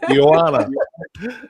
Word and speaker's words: Yoana: Yoana. I I it's a Yoana. It's a rolling Y for me.